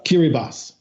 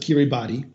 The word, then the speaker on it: Kiribati: door to French Polynesia is kiri boss an island nation most people pronounce at Kiribati it's scheduled to sink